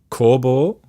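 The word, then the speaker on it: Koubou: album beam of light called core ball and pronounced spelled kou bo u so if you want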